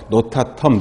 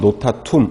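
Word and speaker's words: notatum: 페니실린을 만들 수 있는 푸른 곰팡이, 그 이름은, 최초로 발견했던 푸른 곰팡이의 이름은 페니실리움 노타텀이라고 해서, 노타텀, 노타툼, 어떻게 발음을 해도 상관이 없지만 요거 시험에 되게 잘 나오는 기초적인 내용입니다.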